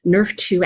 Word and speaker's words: NRF2: and it's called nrf2 that's pronounced like the football like nerf nerf to activation that can help